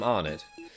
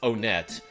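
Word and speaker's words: Onett: By now, Onet, that's how we pronounce it from Onet. But this guy's out of town, so he probably says Onet, is in his evil hands.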